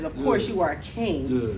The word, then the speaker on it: KYNG: Yes, King. Yeah. I love that. King. King with a Y. I know, KYNG.